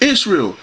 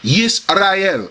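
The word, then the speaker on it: ישראל: or I like Israel it's not called Israel in the Bible when you read the Hebrew when it's in Deuteronomy 6:4 it says shama yesel in the Hebrew or Aramaic shama yesel here oh Israel see it's not is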